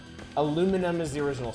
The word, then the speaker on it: aluminium: Aluminium is how the English pronounce it, so I assume it's wrong. Whoa, just them explode? That ruled. kind of gross looking. Aluminum.